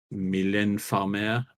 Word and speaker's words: Mylène Farmer: Mylène Farmer, I think is how you say it.